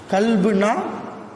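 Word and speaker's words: كلب: கல்புன்னா உள்ளம் கல்புனா நாய் இந்த அரபி வார்த்தையை சரியா உச்சரிக்கணும் காப் ரெண்டு புள்ளி வச்ச காப்பை உச்சரிச்சா கல்புன்னு வந்தா உள்ளம் இதயம் வெறுமன காஃப் புள்ளியே இல்லாத காஃப் வச்சு உச்சரிச்சா நாய் நாலு நாலு கால் பிராணின்னு அர்த்தம் இப்ப கல்புகம் அவர்களோடு அந்த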